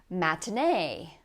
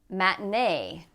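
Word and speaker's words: matinée: Matinee. Matinee.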